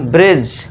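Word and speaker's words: bridge: देखिए जी से पहले क्या है? डी आ गया। तो यहां पे डी को हम क्या कर देंगे दोस्तों? साइलेंट कर देंगे। ठीक है दोस्तों? तो इसे क्या पढ़ेंगे हम? ब्रिज।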